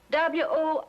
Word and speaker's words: Worcester: But it's spelled W-O-R-C-E-S-T-E-R. Worcester. Oh, yes, I see, yes.